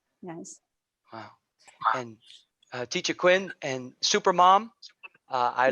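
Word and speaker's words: Quyen: to say my name my name is quinn okay yeah yeah that's right q u y e n yeah children too i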